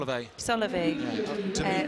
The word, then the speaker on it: Soliev: I'm going to go straight into the quarterfinals, and this is giving us an opportunity to see Soliev. How do you pronounce his name? Solovey.